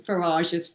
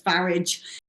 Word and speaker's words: Farage: He deliberately mispronounces Faraj's Farage.